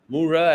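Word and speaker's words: myrrh: and third is murah mura as you know in English the spelling is m y r r h the pronunciation is mura which in Bengali or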